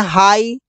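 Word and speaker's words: high: एचटी है तो जी एच प्राय साइलेंट रहता है जैसे इसे बोलते हैं हाई जबकि जीएच को कुछ नहीं बोलते साई थॉट यहां पर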